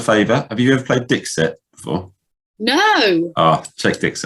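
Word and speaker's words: Dixit: to return the favor have you ever played dick set before no oh check this out it's amazing how do i spell that d-i-x-i-t it's not it's not it's not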